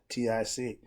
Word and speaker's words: Gnostics: Knowers in ancient time was called the Gnostics, spelled with a G. Gnostic. Ostic. Gnostics.